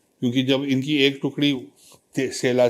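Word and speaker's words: Sela: 2 Passage हैं वहाँ पे, एक सेला है जो SE और एक TSE, सेला, both are pronounced as सेला।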